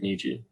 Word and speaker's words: Nietzsche: of thought brought around by i think frederick nietzsche i forget how to say his name sorry thank you frederick nichi um and his line of thought is like